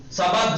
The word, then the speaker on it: سبد: سبد، سبد سین زبر سب پہ ڈال، اس لیے میں نے ہندی میں لکھا ہے سبد.